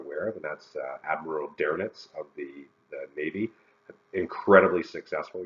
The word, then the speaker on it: Dönitz: And I always joke around, he's the policeman's favorite admiral, because his name sounds like the word donuts.